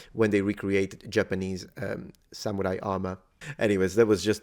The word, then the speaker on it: samurai: is very similar now I know that when I speak English I say samurai samurai but the original Japanese pitch is Samurai it's a ha pattern so it's an accent word flat word for those who have